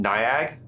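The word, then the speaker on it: N1AG: drug they call it it reads N1 A.G but they pronounce it niag um and it's basically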